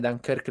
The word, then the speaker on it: Dunkerque: di dunkirk dunkerque però a seconda della pronuncia dunkirk elin la provincia inglese dunkerque la pronuncia francese perché tecnicamente è la